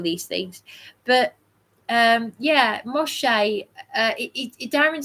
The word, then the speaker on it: Moshe: Um yeah, Moshe.